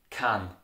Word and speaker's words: keinen: Keinem, keinen is pronounced as kan.